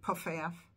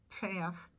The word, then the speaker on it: Paff: Some people say Puffaff, but it's Paff.